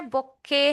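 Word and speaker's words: bouquet: तो इसका जो उच्चारण है बोके है।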